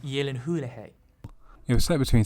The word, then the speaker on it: Gyllenhaal: with the 2010 film starring jake gyllenhaal it's pronounced yellen hulejay it was set between sounds of time and